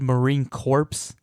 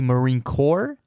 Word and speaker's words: Marine Corps: So I know I said Marine Corps. It's actually Marine Corps.